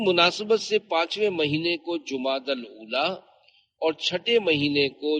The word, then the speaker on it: جمادی الاولی: جبکہ یہاں تیسرا نہیں۔ لغت کے اعتبار سے ان دونوں مہینوں کے درست نام اور صحیح تلفظ یہ ہے، جمادی الاولی، جمادی الاخری اور جمادی الاخرہ۔ پیارے پیارے اسلامی بھائیوں،